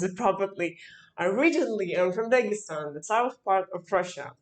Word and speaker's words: Dagestan: I need to pronounce it properly. Originally, I'm from Dagestan, the south part of Russia.